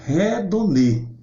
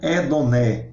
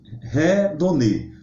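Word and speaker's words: ἡδονή: Por exemplo, a palavra hedonismo, no original grego, né, é redonê. Por quê? Porque o primeiro eta, ele é pronunciado, visto que ele tem um espírito áspero, é um sinalzinho em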